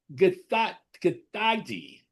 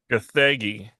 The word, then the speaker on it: Gathegi: David Cornsweet, Rachel Brosnahan, Nicholas Holt, Edie Gathagi. Gathegi.